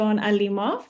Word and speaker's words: Alimov: season two today we have our alimov that's how you that's how you that's the pronunciation of your name isn't it Alo you